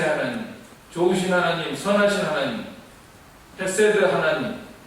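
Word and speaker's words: חסד: 헤세드와 메트라는 말로 나타나고 있는데요 한번 여러분들 히브리어를 발음을 해 보시기 바랍니다 헤세드 헤세 에메트 에메트 헤세드는 무슨 뜻이냐면 사랑 용서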